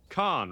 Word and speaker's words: Khan: So that's pronounced Khan, right?